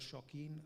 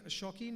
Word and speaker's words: Shauqeen: So yeah, Shauqeen is an IP that we've started. It's actually a word play. It's show, which is spelled as show, and keen.